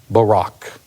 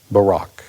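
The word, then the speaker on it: Buraq: Listen carefully to my pronunciation of the Arabic. Barack. Barack. Muhammad claims that Gabriel instructed him to mount Barack, which he obediently did.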